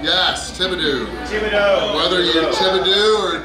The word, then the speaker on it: Thibodaux: Thibodeau. Yes, Thibodeau.